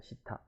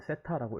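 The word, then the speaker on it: θ: 시타. 이거 뭐 세타라고 읽기도 하고 시타라고 읽기도 하는데요. 일본에서는 시타라고 많이 읽어요. 그래서 시타 이렇게 발음해 주시면 되고요.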